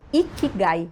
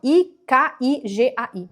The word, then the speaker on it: Ikigai: Busca por um termo chamado Ikigai. Se escreve, é um termo japonês, se escreve com K, assim, ó. Ikigai.